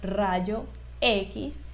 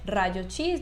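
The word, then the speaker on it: rayos X: y muy atenta en cómo decir por ejemplo Rayo x y no se dice Rayo chis ni Rayo x nada de eso vale entonces se queda Rayo x o radiografía muy bien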